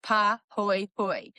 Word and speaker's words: pahoehoe: The second type is called pahoehoe, pronounced pa-hoy-hoy, and this is the ropy, swirly, almost liquid-looking rock.